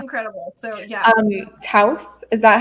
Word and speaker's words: Taos: Taos, is that how you pronounce it?